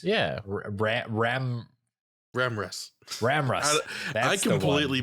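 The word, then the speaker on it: Ramras: Voiced, of course, by Rachel Ramses. Yeah. Ramrus. Ramrus. I completely butchered Did you that, even look at but- the wiki?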